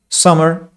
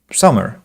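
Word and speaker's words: Sumer: what I'm talking about Wikipedia thankfully does summer so it's like summer the time of the year okay summer then summer or Mesopotamia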